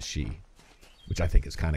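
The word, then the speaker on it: Sidhe: It's pronounced the She, although it's spelled like S-I-D-H-E or something, but it's pronounced the She, which I think is kind of cool in and of itself.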